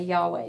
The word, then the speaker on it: Yahweh: But also, the reason that we think that that name might be pronounced that way is that actually it's the sound we make when we breathe, mm-hmm. right? We would say, Yahweh, right?